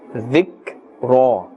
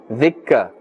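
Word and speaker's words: ذكرا: Now remember, Kaf is not part of the huruf qalqala, and therefore we cannot and we must not bounce the sound. There must not be an echo. Dhikka, dhikka. It must be dhik, dhik.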